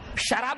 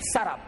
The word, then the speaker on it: سراب: MIRAGE، میراج میں سراب، اس کو بعض لوگ سراب پڑھتے، غلط ہے وہ. قرآن حکیم نے جو تلفظ بیان کیا، جو پروننسیشن وہی صحیح پروننسیشن ہے. سراب، شراب نہیں، سراب.